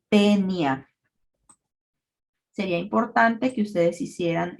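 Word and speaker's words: Taenia: Lo mismo sucede con el diptongo AE, hay 2 vocales, vamos a suprimir el sonido de la vocal diferente a la E y entonces vamos a pronunciar a este género como tenia.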